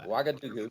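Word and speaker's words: Ouagadougou: Wagadoo. Wagadoo. I had always wonder how you pronounce that.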